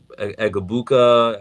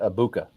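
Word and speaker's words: Egbuka: even know how to Egabuka. I got to start working on how to pronounce I think it's a silent G. It's a silent G. So, Mecha Ibuka. Abuka.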